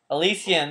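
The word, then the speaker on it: Elysium: Fallen to dust the greatest legends of alysium alysium that's what it is that's what that's how you pronounce it what was once a land of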